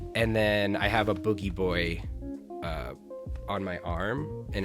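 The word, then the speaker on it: Booji Boy: o o ji and everybody calls him bougie boy but it's actually pronounced boogie boy that's for like it's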